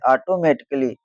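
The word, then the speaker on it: automatically: ऑटोमेटिकली। क्यों? क्योंकि इसमें भी ए डबल एल वाई आ रहा है। तो ए हो जाता है साइलेंट।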